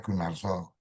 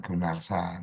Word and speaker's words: Gunarso: Gunarso ya karena ini di Jawa Tengah membacanya Gunarso bukan Gunarsa.